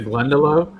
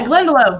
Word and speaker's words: Glendalough: The Glendalough? Yeah, Glendalough.